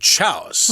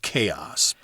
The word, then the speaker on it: chaos: was a kid, when I first saw that word, I said chouse. Hey, Mom, what does chouse mean? I think you mean chaos. It's kind of a weird pronunciation there, but yes, we say chaos.